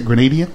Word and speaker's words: Grenadian: How do you say Grenadian?